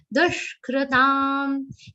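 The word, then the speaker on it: दुष्कृतम्: Dushkritam. Ka has Rishi's ru matra. There is no ra in that.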